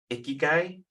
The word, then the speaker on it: ikigai: that it's out there, and I believe it's pronounced ikigai, which is like the convergence of everything that